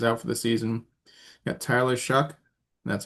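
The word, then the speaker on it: Tyler Shough: Got Tyler Shuck, that's how you pronounce it, in New Orleans.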